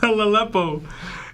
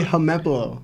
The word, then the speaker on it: Helmepo: Also, my favorite Law and Lionel mispronunciations are Annie's Lobby, Momonosuke, Katakuri, Helalepo.